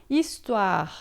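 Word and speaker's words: histoire: Tá, istoar, a gente vai ler assim, né?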